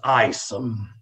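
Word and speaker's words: Aesum: find the ancient brass dragon her name is isom how would you spell that a e s u m if you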